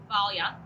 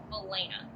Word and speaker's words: Valena: In the Eastern world, it would be pronounced Valia, okay? But in the Western world, it is Valena, okay?